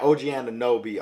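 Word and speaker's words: OG Anunoby: fredbear fleet and oj oh sh i just pronounced both of those fred van fleet and ogianna nobi are also two players that i like christian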